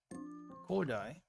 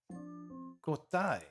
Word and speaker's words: 交代: Kodai. Not kodai. What is this? Kotai. 交代 Kotai. I know it can be pronounced as dai sometimes, but kotai? Kotai?